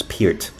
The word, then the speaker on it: Neil Peart: Well, we used to say Peart until I found out that his correct pronunciation is Peart.